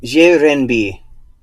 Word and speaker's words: renminbi: I'm just gonna play it. 人民币 So renminbi. That's it. You can't hear it, coders, but I just played the sound. Okay. It's the renminbi.